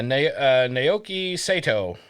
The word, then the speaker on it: Naoki Sato: Can you pronounce it? Yeah, Naoki Sato.